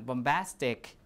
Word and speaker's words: bombastic: And last one, bombastic, the stress is on astic, right?